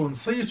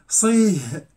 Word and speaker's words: صيت: صيت مسبوقة بسكون ميت، ولكن صيت هذه هل يمكن أن تنطق التاء هاء؟ هل يمكن أن تقول صيه صيه؟ لا يمكن بتاتا، ولذلك تكتب التاء مبسوطة لأنه لا يصح نطقها هاء.